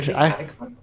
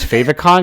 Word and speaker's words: favicon: So I always thought it was Favicon because it's like when you favorite it, Yeah, it's your favorite icon. It's definitely like favorite icon, and then fave but short.